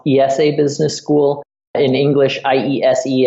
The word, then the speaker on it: IESE: this school so here in Spain it's it's pronounced ESA Business School in English IESE and we intermittently